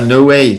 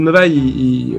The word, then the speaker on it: Novaille: Ah, No Way. Tu veux l'appeler No Way, c'est ça? Il le prononce Novaille? Non, Novaille. N-O-V-A-I-2-L-E. N-O-V-A. Je note.